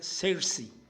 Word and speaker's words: Saoirse: van a ver ustedes escribe sa oirse ronan pero entiendo que se pronuncia cersi ronan y van a ver